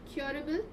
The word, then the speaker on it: curable: Curable. Where is the stress? Curable. It's a curable disease. Where's the stress? Above C. The first syllable, right?